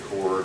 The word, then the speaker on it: chord: called a cord uh it has a silent h in there looks like chord it's not it's a cord I'm not asking you